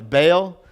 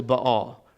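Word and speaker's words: Baal: and and so so if you ever looked at be a Al and wonder why it's bail it's actually but all right so let's actually talk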